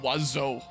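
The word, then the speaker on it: oiseau: even is which is French for bird is pronounced wazo wow the French language in fur too same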